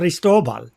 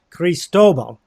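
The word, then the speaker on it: Cristóbal: you pronounce this so they stole bottle if you say it's a Spanish word right but so but in English Chris Doble cristobol you know the accent is on the tote I sound like such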